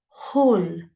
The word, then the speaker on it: whole: exactly the same way the W is silent in the first word so whole whole but the spelling is